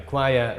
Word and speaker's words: choir: If a word is completely hopeless, like a choir, the group of singers, okay, then what you can do is choir rhymes with wire, a piece of iron, okay.